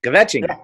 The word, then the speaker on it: kvetching: Yiddish for, kvetching, gossiping, kvetching. Yeah. Kvetch. It's on the list. Kvetching. You got to pronounce it right.